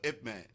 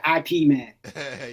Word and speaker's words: Ip Man: Man, Thai Man, or Ip Man? Ip Man. Yes. Some people, I hear people say IP Man. So but it's pronounced Ip Man.